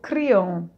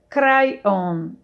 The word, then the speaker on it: Kryon: sei como pronunciar crayon na espanha eu falo criam e não sei se esta pronúncia está correta muito obrigada a resposta dele mônica obrigado por sua pergunta não é só você que fala criam já que todos os franceses também pronunciam assim na américa é pronunciado crayon kayhan mas eu realmente não acho que faça muita diferença caiam nos diz que